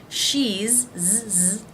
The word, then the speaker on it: she's: Now the apostrophe S for the word is in these three contractions is pronounced as a Z sound for he and she, and as an S sound for its. He's, Z sound, she's, Z sound, it's, S sound.